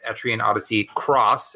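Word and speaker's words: Etrian Odyssey X: and it is Etrian Odyssey Cross. It looks like an X, but it is pronounced Cross.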